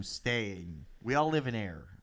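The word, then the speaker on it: Ayer: we all live in air like yes there we go where where are you staying cloud that's the name of the town but it's spelled with a y is a-y-e-r what's near it massachusetts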